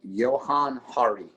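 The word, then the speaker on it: Johann Hari: watch a YouTube video by a guy named Johan Hari so it's Jo spelled like Johan j o h a an N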